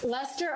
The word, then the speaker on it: Leicester: i think i think uh somebody says not pronounced lester lester okay lester minus the sleazy polyester suit thank